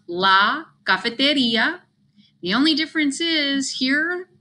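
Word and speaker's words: cafetería: It's pronounced la cafeteria. The only difference is here in English, we don't have accents, but in Spanish, there's an accent. It falls over the I.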